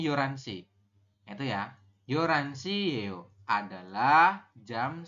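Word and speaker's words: 열한 시: yoranso ya yoran yoran dibacanya kan kalau tulisan itu yolhan tapi kita bacanya yoransi itu ya yoranso adalah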